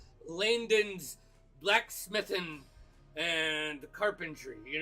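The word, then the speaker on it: Laindon: spell that for me La I l a i n d o n Landon but I say Landon so you know uh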